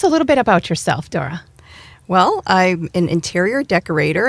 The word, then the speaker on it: Thora: our program we have Dora that's pronounced with a d actually but spelled t h o r a Dora from decorating Den Interiors Dora Welcome to our program